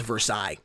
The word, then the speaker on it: Versailles: here two to zero i believe it is pronounced versailles it is not pronounced for sale uh we had confirmation last uh last cremate versailles it's a french word xc finally sticks here